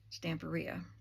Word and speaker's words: Stamperia: So in not using the Stamperia paper, I used to call that Stamperia, but then I saw a video with someone from that company. It's Italian, and they pronounced it Stamperia.